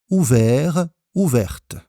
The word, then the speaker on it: ouverte: Et la fenêtre est ouverte, avec une petite différence de prononciation, ouvert ouverte.